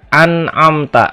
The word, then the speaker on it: an'amta: Jadi dibacanya tetap jelas an'amta dan tidak ditahan ya.